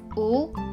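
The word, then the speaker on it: ㅜ: This is u, it sounds like double o as in moon.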